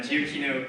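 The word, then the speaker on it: Giacchino: composed by Michael giokino thank you uh I mispronounced it yesterday uh giochino previously scored the video games war path Jurassic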